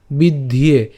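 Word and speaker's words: বিদ্ধ্যে: এখন এই যে এখানে জফলা আছে, জফলা উচ্চারণটা কার মতো হয়, আমরা জানি ইয়র মতো হয়, এবং ইয়র সাথে আবার কি আছে, এখানে একার আছে।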